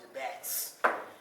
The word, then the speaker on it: Jabez: And actually it ran through who we call Jabez, right? We know about the prayer Jabez, and law borders, all that good stuff. It's actually pronounced Jabez.